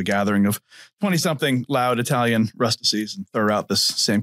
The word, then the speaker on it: Rustici: She goes, guys, if anybody ever asks you how to pronounce Rustici, you just tell them that Rustici rhymes with ecstasy.